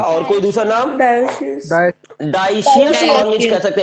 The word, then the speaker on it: dioecious: डाइशियस organism कह सकते हैं, DIO DIOCIOUS, एक सेकंड स्पेलिंग देख कर लिखते हैं।